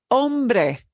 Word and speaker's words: hombre: an H in them you will not hear the hombre hombre hombre okay honor honor honor